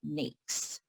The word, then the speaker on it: NAICS: the North American Industry Classification System, or we pronounce it NAICS.